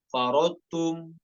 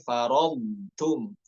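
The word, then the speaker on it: فرطتم: Tidak boleh dibaca tebal, tidak boleh farotum, farotum, namun farodtum, farodtum ya.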